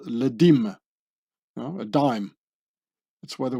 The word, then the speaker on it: dîme: becoming une dixième or une dîme, pronounced and written like the word dime.